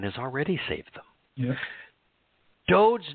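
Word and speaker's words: דוד: Look even at Dowd's name. They call it David. Dowd has meaning. Look up Dowd. It means beloved. Mm-hmm. David doesn't have any meaning. And by changing the pronunciation of the wa, which conveys the O sound in Yahweh's name, to a V, is it doesn't exist.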